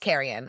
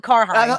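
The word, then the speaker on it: Cairhien: I think it's pronounced Kerrion or something like that because I I definitely don't call it Carheine. It's definitely not called Carheine. It's definitely not how it's pronounced in the books.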